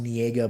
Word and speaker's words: Niega: Niega is out of Ukraine, and his name's pronounced Niega, but it looks like Naya.